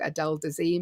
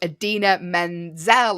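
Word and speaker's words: Idina Menzel: got her name wrong adele dazeem no it's not um but who is it shall we reveal now alison we shall but you say cause i think you have better pronunciation of this name than i do the celebrity in question was adina menzel of course it was a the fantastic adina menzel best known for elsa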